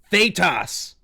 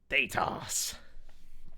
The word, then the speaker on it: Thaetas: Is it Thaetas? Thaetas? Yeah. Well, you said it right both ways. Yeah. Oh, okay. Yeah. To me, It Datus works and both ways. Datas is acceptable.